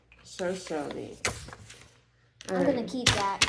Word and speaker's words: Shoshone: So these are the same 3 letters, aren't they? Yep. So you would pronounce them probably the same, wouldn't you? Yeah. So you would say, if you're saying show for the first? Yes, ma'am. Show. Mm-hmm. Show. Shoshone. Perfect.